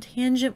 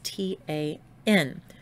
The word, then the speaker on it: tangent: And tangent will be abbreviated as T-A-N. But you still pronounce them as sine, cosine, and tangent.